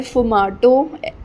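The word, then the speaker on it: sfumato: फिर आता है फुमाटो, इसमें एक एस बी है आगे, वो साइलेंट है।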